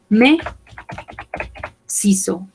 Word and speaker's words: mes ciseaux: Ciseaux es una palabra que está en plural, por lo tanto, yo digo mes ciseaux, mis tijeras. Recordemos, no pronunciamos la S de acá y la X tampoco. Mes ciseaux, mis tijeras, mes ciseaux.